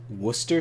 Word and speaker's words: Worcester: say whatever you want British people claim that uh W Worchester sauce is Worcester sauce and that's because